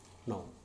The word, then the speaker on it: know: And this K also happens silent in no, KNOW, knee, KNEE, knit, KNIT.